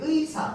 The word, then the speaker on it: 의사: 이제 의사, 저희, 희망의 예의를 그 다음에 친구의 이런 거에 따라서 우리는 이제 발음들을 정확하게 나눠줄 수 있습니다. 맞죠? 이 의사 갈 때 의는 뭘로만 발음해? 의로만 발음합니다.